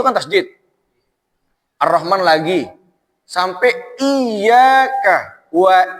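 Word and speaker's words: إيّاك: Sampai iyyaka wa iyyaka. Nah, itu juga tasdid. Kebanyakan para imam itu lupa dibacaan iyyaka ada tasdidnya. Bismillahirrahmanirrahim.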